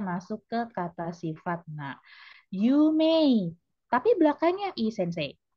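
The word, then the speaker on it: ゆうめい: Begitu juga dengan yume, iya betul dia belakangnya memang hurufnya i. Tapi begitu dilafalkan dia tidak yumei seperti halnya semai, kitanai, hiroi, takai, tetapi dia yume.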